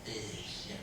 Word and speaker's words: fish: people struggle with that a lot of people say but it's fish soft eye sound and um one other